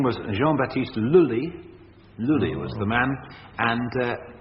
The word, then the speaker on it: Lully: An Italian composer. Yes, who... but a Frenchly pronounced name. Beginning with G? No. His name was Jean-Baptiste Lully, Lully was the man,